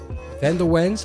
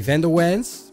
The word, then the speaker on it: van der Wens: I'm so used to saying it in Americans, so the Americans will say Roy van der Wens.